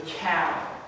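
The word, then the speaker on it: Qal: But the tense we're going to cover today is called the cow, and it's spelled Q-A-L.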